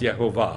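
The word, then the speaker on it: Yehovah: amazing, amazing thing, that God's name is Yeh-ho-vah. Then he found 10 rabbis that said it's pronounced Yeh-ho-vah.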